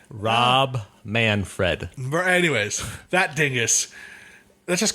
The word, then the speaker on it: Manfred: they i i i i personally think rob manafort is that's not how you say his name is it it's manford and fred man fred he's a man fred manfred scott manafort no no you're listening to